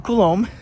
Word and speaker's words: Colombe: bit about me so Michael colombe that's my name that's how you say it's a French last name which is why it's all vowels I don't get it